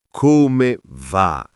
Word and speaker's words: come va: Come va? Sì, proprio così, unita. Non come va, sillaba per sillaba, ma come va? Fluida, rapida. Così suona più naturale.